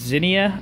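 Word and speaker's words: Xenia: But, there is a meet in, I believe it's pronounced Zinnia, Ohio, May 31st for all-wheel drive Army, and I'm going to try my hardest to have this car there.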